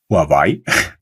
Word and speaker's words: Huawei: And there was a lot I didn't know about Huawei, which in Germany is actually pronounced Huawei.